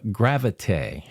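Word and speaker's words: Gravité: There is a commercial on TV called uh Gravite, spelled like gravity, but is pronounced gravit.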